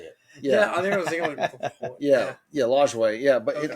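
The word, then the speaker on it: Lajoie: how you say it yeah I yeah yeah lway yeah but it like I feel like you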